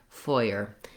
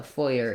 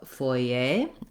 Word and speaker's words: foyer: It's foy, like in boy, and then like in paper or together. Foyer.